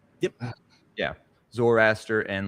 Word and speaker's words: Zoroaster: Zoroaster. Yep. Yeah. Zoroaster and like, and Jen probably knows, I'm sure, the Kabbalah.